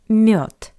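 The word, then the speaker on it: мёд: By the way, have you noticed that the voiced consonant D at the end of this word also sounds like the paired voiceless consonant t? Not m but mute.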